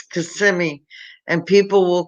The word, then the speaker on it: Kissimmee: In Florida, the most mispronounced city in the state is Kissimmee. Kissimmee. Everyone calls it Kissimmee. It's Kissimmee, and people will call it Kissimmee Montana.